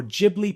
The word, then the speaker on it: Ghibli: a selfie into a full-blown action figure or jibli painting for free.